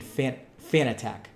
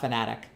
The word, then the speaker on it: Fanatec: First pronunciation, Fanatec. Okay, so not Fanatic. Fanatec. Got it.